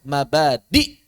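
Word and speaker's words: مبادئ: Ini mabadi aslinya pakai hamzah ya, mabadi. Tapi cara bacanya diringankan. Biasanya para ulama pakai mad.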